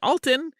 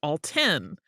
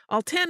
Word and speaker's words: Alton: let you know that it is actually pronounced all ten all 10 is in fact an